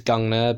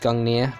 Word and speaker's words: Gungnir: I think when I first did Final Fantasy, I would have pronounced it as Gungnir, but I now know it's pronounced Gungnir, because Icelandic language, it's just the way it's said.